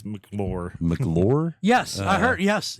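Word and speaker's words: McLure: We talked We talked about a We talked about a hotel in Wheeling called the We We were pronouncing it as Mccor. It's Mclo.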